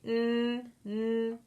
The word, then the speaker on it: know: Our next letter sound, it starts with a K. But there's something special about this sound, is this K is silent.